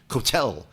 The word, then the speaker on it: kotel: It's kind of like, we're going to the kotel to pray. No, we're going to the kotel. No, it doesn't have an accent mark. It's not French. There's no Cajun influence here in the pronunciation whatsoever.